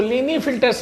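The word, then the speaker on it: Klinefelter: Clini filter, इसको लीनी फिल्टर्स पढ़ोगे, के साइलेंट होता है।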